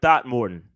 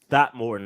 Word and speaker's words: Throckmorton: Calvin Throckmorton. I know I said it wrong on purpose. Throckmorton, according to Dave.